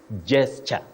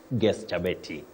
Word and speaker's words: gesture: guesta a kind Gest but that sound G is wrong in that word the g at the beginning of that word takes sound J just like in the word generator or general or gender if you like so you say gesture gesture a kind gesture not Gest got you Willis thank